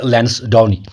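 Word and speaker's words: Lansdowne: अब ये लैंसडाउनी पढ़ो या लैंसडाउनी पढ़ो, प्रोनाउंस हम इसको लॉर्ड लैंसडाउनी।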